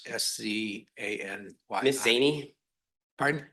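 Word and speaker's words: Szany: Miss Zaney, Pardon? Miss Zaney, like Zaney, okay.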